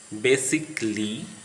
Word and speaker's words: basically: If a word ends in ICALLY, then A is silent, as in the following words: basically, practically, logically, automatically, specifically, chaotically. Don't say logically, basically, automatically. Don't utter cali, ikli. Silent B.